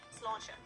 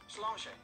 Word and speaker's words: Sláinte: Sláinte. Sláinte.